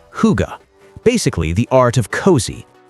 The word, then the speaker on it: hygge: Welcome to Scandinavian design, built around a Danish concept called hygge, pronounced hygge.